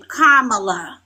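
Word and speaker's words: Kamala: Kamla.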